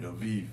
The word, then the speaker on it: Aviv: So the first month of the Hebrew calendar in the first calendar was Aviv, because their B's are pronounced with the V's, like Aviv.